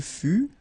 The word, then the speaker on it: fut: Il fut, final T not pronounced.